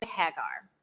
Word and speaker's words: Hagar: For those of you may be familiar with the book of Genesis, there's this Egyptian woman, Hagar, or Hagar sometimes she's pronounced, and she is within this family situation.